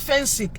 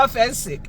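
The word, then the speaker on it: Phensic: There's a product called Fensic. Anybody remember Fensic? Fensic, Fensic, Fensic, Fensic, Fensic. Yes, yes, Fensic. It's spelled P-H-E-N-S-I-C.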